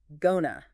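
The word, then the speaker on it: gonna: It rarely sounds like two separate words, right? Becomes gona.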